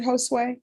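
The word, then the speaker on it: Josué: How do you pronounce that first name? Is it Josue?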